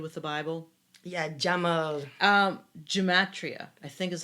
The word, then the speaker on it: gematria: about they do with the bible yeah um gematria i think is how you pronounce it g-e-m-a-t-r-i-a um it says each hebrew